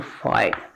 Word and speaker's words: fight: and 81 that can be converted to fight. See the pronunciation. Fight. Only two sounds are there, F and T.